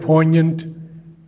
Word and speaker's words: poignant: And the word poignant, the G is never pronounced.